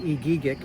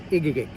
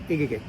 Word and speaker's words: Egegik: As it's spelled, I would tell everybody that it's pronounced Egegik because it was a lot easier for my family and friends to be able to pronounce that. But the actual pronunciation is in red, Egegik.